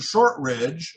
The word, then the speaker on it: Shortridge: And then Shortridge So it's just like Darling Short Ridge.